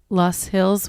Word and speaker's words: Loess: Luss Hills, which, fun fact, it's spelled Loess. That's right. How is it pronounced? I say Luss Hills.